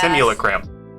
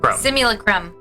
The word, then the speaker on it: Simulacrum: So Elminster's Simulacrum, I always Simulacrum. I always have a hard time with that one. And there's another Simulacrum that Simulacrum. Say that 5 times fast. Simulacrum. Simulacrum.